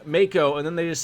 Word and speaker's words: Mako: final fantasy 7 remake i always thought the macko reactors were mako and then when they said mako i was like what the that's that's not how that's supposed to be pronounced i like wanna fight